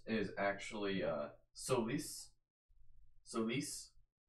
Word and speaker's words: Solace: Actually found out, like, the correct pronunciation for Solace is actually, Solis.